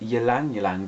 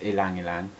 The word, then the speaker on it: ylang-ylang: I've always called it ylang-ylang, but I've recently discovered I've been saying it wrong the whole time. It's ylang-ylang.